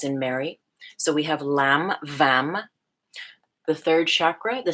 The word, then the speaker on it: Lam: From the root, the sound is Lam, L-A-M. M as in Mary.